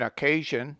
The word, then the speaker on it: occasion: In occasion, pleasure, etc., the S must be pronounced as SH. Pronounce crucifixion, anxious, etc., with X as KSH.